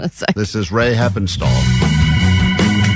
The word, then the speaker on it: Heppenstall: Ray Heppenstall.